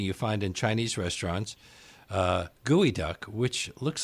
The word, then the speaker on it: geoduck: to try to make it sound more like gooey duck but it didn't look right if we go back to like how pronunciation changes because of what we're accustomed to